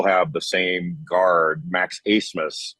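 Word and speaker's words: Abmas: the same guard Max acemus spelled a b m a s and it's pronounced asmus uh but they actually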